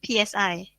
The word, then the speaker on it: psi: as psi all right psi is pronounced as sign right this symbol um and